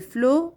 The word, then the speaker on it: flots: dans titanic mais les flots on ne prononce pas la lettre t comme sur du beau